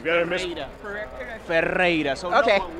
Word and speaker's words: Ferreyra: It's okay, Ferreyra's okay. It's the English version, but the real one is Ferreyra.